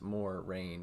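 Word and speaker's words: Moiraine: the isodive marine damodread which is going to be pronounced more rain in the show in a symbolic gesture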